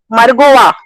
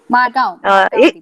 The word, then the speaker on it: Margao: तो I would request, I thought I will tell आज Margova, I don't know how you pronounce it. Margaon.